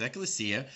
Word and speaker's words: ecclesia: okay so let's look at strong's concordance g1577 pronounced ecclesia the definition's as follows a calling out that